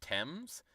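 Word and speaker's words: Thames: the out of here it's pronounced temps the river temps I think I've heard that before but tame sounds way cooler of course the Brits don't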